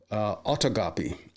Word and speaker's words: autogolpe: Speaking of Donald Trump and conservatives, we're learning a new word thanks to a lot of people, including Paul Krugman, autogolpe. And there is a pronunciation of this.